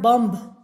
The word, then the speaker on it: bomb: silent lim once again ba is silent bomb it is not bomb then we have autumn